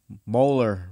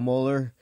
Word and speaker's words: Moeller: a line special guest Mohler is how you say your last name yes sir all right Mohler Grudge racer and just